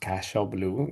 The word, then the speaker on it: Cashel Blue: It is pronounced Cashel Blue, not Cashel.